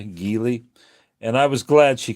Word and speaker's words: Geli: It's the first time I've seen Giley this year. I think that's what how you pronounce G E L I. Gily.